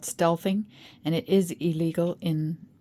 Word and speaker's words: stealthing: where is it yeah steel thing sorry about that I did pronounce it wrong it's called stealthing and it is illegal